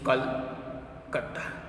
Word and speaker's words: Kolkata: Its pronunciation like this, Kolkata. Okay, and another thing you have to remember that the new name Kolkata is getting as Kol and Kata.